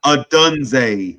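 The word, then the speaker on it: Odunze: Adunze.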